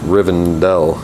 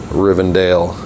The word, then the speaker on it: Rivendell: it's Riverdale and it's Riven Dell I mean I just don't know where anybody would get rivendale out of that word but they do or